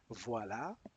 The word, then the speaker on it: voilà: como como la palabra voila. se pronuncia fonéticamente wa.